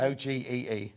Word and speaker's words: ogee: O-G-E-E. Ogee. But you say it like ogee. Like, that's how I say it. Okay. Yeah. Okay. It's spelled O-G-E-E. So it's like, oh, gee. Oh, gee.